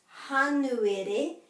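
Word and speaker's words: Hānuere: Kohitatea, and that's hanuere, and as you can tell, sounds like January, so that's the transliteration.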